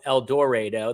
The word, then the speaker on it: El Dorado: Us local Kansans, we say El Dorado. El Dorado. That's how we pronounce it.